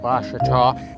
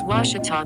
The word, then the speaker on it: Ouachita: How would you pronounce it? Ouachita. Ouachita. It's Ouachita Baptist University. Get it right. It's Ouachita, people. It's Ouachita.